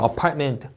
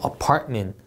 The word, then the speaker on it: apartment: 자, T랑 M 사이에 모음 없죠. 그리고 apartment, T 하시면 안 됩니다. T 뒤에 모음이 없습니다. 다시 apartment, apartment.